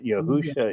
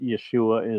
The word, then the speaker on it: Yahusha: the same as you yahusha is the way it's really pronounced but Yeshua is acceptable yeah yeah okay Elijah